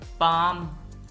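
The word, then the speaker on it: palm: पाम, ये लफ्ज पाम है, इसमें और काम में एल साइलेंट है, पाम।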